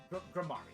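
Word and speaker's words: Gramarye: It's here at this famous theater that we'll finally get to see Trucy Wright, Trucy Ingram, Grammari. It's pronounced Grammari.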